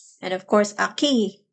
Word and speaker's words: aquí: And of course, aquí is pronounced like the U doesn't exist, but in Italian you say it qui.